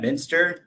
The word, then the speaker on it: Muenster: my name is Minster H so not pronounced like the cheese it's crazy German last